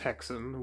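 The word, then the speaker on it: Häxan: From what I could find, it's pronounced Hexen, which I think is where the term witch's hex comes from.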